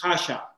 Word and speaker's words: Kasia: hi okay so you your name is pronounced kasha in polish yes this is the short you know in polish casia okay welcome welcome hello